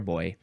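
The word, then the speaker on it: beau: boyfriend and B and B is spelled be E A the Frenchy way boyfriend or bo bo oh he's my boyfriend my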